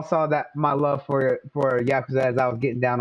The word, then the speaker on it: Yakuza: Y'all all saw that my love for Yakuza as I was getting down on it earlier this week. And of course, I'm always doing a lot of different things. You're not saying it right, Bloody. It's Yakuza.